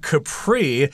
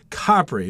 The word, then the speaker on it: Capri: That's how most people pronounce the name of this, but Helen, you happen to know some Italian, and in Italian, it's actually pronounced Capri. Am I correct? Yeah, that's true. But, you know, a lot of Italian words, when they become anglicized or when they become adopted into the English language, actually changes pronunciation. So I guess both are acceptable.